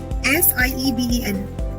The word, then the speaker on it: sieben: S-I-E-B-E-N.